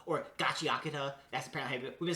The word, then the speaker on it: Gachiakuta: Oh, this is Gachiakuta or Gachiakata.